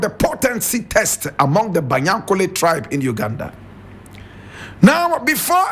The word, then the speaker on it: Banyankole: Now Banyankole is spelled Banyankole. Banyankole.